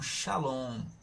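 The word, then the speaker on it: שלום: O significado aqui não é shalom. Shalom é a pronúncia. Esse nome aqui em português, ó, shalom, a gente bota em português para que nós pronunciemos da mesma maneira que se pronuncia em hebraico, tá bom?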